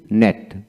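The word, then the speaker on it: gnat: Word এর মধ্যে জি এন একসাথে থাকলে জি এর উচ্চারণ হয় না।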